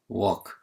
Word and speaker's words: walk: walk, 걷다. walk, 걷다. L 발음이 나지 않습니다. 그래서 walk 하면 절대 안 됩니다. L은 발음이 나지 않는 묵음.